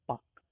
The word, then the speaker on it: Palk: Next देखते हैं, अगला है पाक स्ट्रेट। ध्यान रखिएगा, स्पेलिंग है PALK, लेकिन इसको पढ़ते हैं पाक, जिसको आप लोग हिंदी में जानते हैं पाक जल संधि या पाक जल डमरू मध्य।